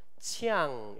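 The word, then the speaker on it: 羌: 그래서 중국식 발음으로 하면 치앙 이렇게 됩니다. 이게 치앙족이에요. 치앙족인데 왜 이렇게 이들이 산으로 그렇게 올라갔을까?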